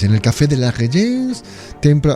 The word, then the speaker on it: Régence: Eso es, en el Café de la Régence, templo... ¿Ha visto que bien pronuncio Régence? Sí. Que me como la R así como, ¿verdad?